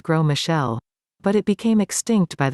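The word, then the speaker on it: Gros Michel: used to have the gross michelle pronounced grow michelle but it became extinct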